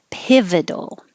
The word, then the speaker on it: pivotal: same place eloquent lee pivotal so the vowel is i as in hit your tongue needs to be a little lower pit and not e like peeve so this is e eat and this is it eat it and you need the vowel for it the second one piv pivotal pivotal moment murderer so when i